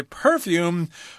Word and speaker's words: perfume: because you can say perfume or perfume both of those pronunciations are acceptable perfume might be more common because most two syllable nouns are accented on the first syllable I don't know when